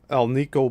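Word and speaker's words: Alnico: The seven wire coils having elo bar magnets and that's pronounced or that's spelled a l nico placed inside them.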